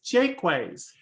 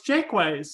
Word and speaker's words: Jaquays: i found out that you're supposed to pronounce the phrase the word quay as i call it quay as key yeah so the florida